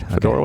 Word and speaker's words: Fedorowicz: Fedorowicz.